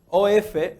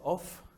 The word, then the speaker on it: of: OF no se dice off con F, se dice con V. Porque si dices F, va a sonar a que estás diciendo OFF.